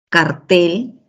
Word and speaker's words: cartel: El acento en cartel está en la última sílaba, mientras que en cártel en la penúltima sílaba.